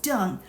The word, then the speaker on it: Deng: Quote, Hunter, this is to confirm that the DCM Minister Deng, pronounced Dung, asked through a call that I received from Mr.